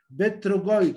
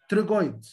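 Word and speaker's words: pterygoid: بلغي الحرف الاول مثلا لتر بي تي ما تنطقش بت لا ما اقولش كلمه بتروجويد يعني التهاب في الثايرويد جلاند. بتنطق يا جماعه تنطق ساوند تي تنطق تريجويد.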